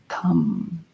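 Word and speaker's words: tam: And then you become red Tara, and we'll do that through sounding her seed syllable tum.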